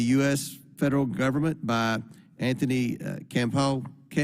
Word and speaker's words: Campo: federal government by Anthony Campo. Pronounce that for me. It's Campo, sir.